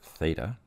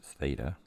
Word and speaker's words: theta: I've labeled it with a Greek letter it's pronounced theta so this Greek letter here is pronounced theta and Greek letters are often used as variables